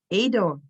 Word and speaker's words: Edo: i really appreciate it you pronounce my name as ado and and the full